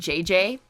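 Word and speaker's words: JJJ: Ricky, Trey, and JJ, the third J is silent, make up the band Boys in Motion.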